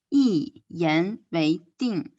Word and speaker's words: 一言为定: 一 here we pronounce the fourth tone. 一言为定.